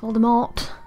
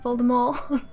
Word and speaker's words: Voldemort: Not Voldemort. No, no, Voldemort. That's how you're supposed to pronounce it, apparently.